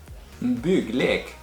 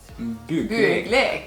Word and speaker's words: Bygglek: BYGGLEK. Oh. BYGGLEK.